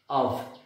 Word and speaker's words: of: ভ আমরা কখনোই এটাকে অফ বলতে পারি না এটার প্রান্সিয়েশন হচ্ছে অফ আশা করছি তোমরা এইটা বুঝতে পেরেছ এই এফ এর উচ্চারণ ভ এটা কিন্তু এই একটি